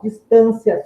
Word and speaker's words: distância: Então, note que a posição da sílaba tônica na palavra, ela altera tanto a acentuação, a posição da acentuação, né, dos acentos, como a sua classe gramatical. Distância, substantivo, distancia, verbo.